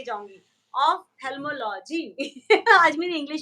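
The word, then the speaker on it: ophthalmology: से पहले आपसे सीख के जाऊं कि उसे प्रोनाउंस किया कैसे जाता है फिर से एक बार बताइए ऑफ्थेल्मोलॉजी है ऑफ्थेल्मोलॉजिकल सोसाइटी है, तो दिल्ली ऑफ्थेल्मोलॉजिकल सोसाइटी।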